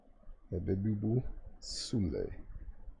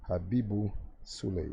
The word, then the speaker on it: Habibu Sule: Habibu Sule. Habibu Sule. Yeah, that's how you pronounce his name.